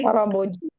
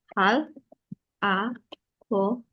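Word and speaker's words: 할아버지: Tapi dibacanya bukan hal, a, boji. Bacanya haraboji. Karena muncul R Ah, ya. Jadi muncul R. Kenapa muncul R? Jadinya haraboji. Muncul R nih di sini.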